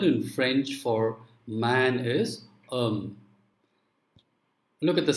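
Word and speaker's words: homme: french for man is um look at the spelling h-o-m-m-e now in this word the first letter h is silent so therefore what happens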